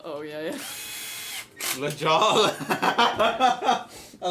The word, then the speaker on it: La Jolla: Oh no, La Jolla. Oh yeah. La Jala. I like how you pronounced it.